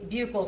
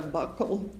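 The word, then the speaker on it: buccal: Now, um can you tell the jury what a bugle swab is? So, a bugle swab or a buckle swab, depending on different people say it different ways, it's spelled B U C A L.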